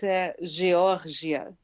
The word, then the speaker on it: Georgia: that for us well the pronunciation in Brazil is gioria gioria g wow there it is